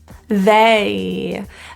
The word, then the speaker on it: they: spelled from from from they this has two vowels as well and as you might have guessed that little e at the end is the difficulty so if you find